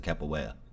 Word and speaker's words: capoeira: I think it was capoeira. Something like that. I'm sure. Capoeira. Huh? You pronounce it capoeira. Oh, really? Yeah, the R is like one of those like RY sounds.